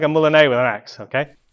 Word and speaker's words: moulinet: So you're doing like a moulinet with an axe, okay? I've been reliably informed it's pronounced moulinet, and that's by Matt Easton, so you can't yell at me because he is king.